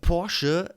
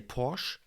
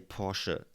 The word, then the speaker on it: Porsche: Porsche is indeed the the right pronunciation of that uh very famous German car in America. Can many people would say Porsche, I guess, but in Germany and it's German. So please say Porsche because in the German language